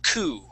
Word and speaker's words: coup: this this word uh is actually pronounced coup coup okay no without the P at the end coup okay cou yeah yeah